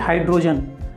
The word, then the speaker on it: hydrogen: अब हम लोग आते हैं दूसरे शब्द में, जैसे एक शब्द ले लीजिए हाइड्रोजन। हाइड्रोजन में HYDROGEN, हाइड्रोजन में हाइड्रोजन, यहाँ पे आई की तरह प्रोनाउंसिएशन हो रहा है वाई का, जो कि एक वॉवेल